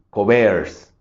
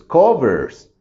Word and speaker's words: covers: ejemplo en el caso si yo marcara y dijera que esta es la más fuerte sería porque la palabra sonaría como covers Pero entonces no es donde nos damos cuenta de que realmente la más fuerte es co por eso es covers siguen siendo dos sílabas mi